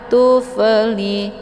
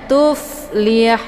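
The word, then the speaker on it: تفلحون: Tufli, tufli, keluar bunyi fe, itu bacaan yang salah. Namun dibacanya tuflihun.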